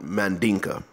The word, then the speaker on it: Mandinka: front of the D I'm probably more likely to call it Mandinka because that's how I hear them pronounce it they're more likely to